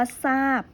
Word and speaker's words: ทราบ: ทราบ เห็น ไหม คะ ทอ ต้า ป่าน ว่า ทราบ ก็ จะ อ่าน ออก เสียง เป็น ตัว สอน